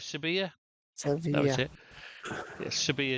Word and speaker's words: Sevilla: Yeah, Sevilla is how they pronounce it there. So that's the pronunciation I'll go with because that's the Andalus way of saying it. Sevilla. They pronounce Sevilla as a V in Andalus.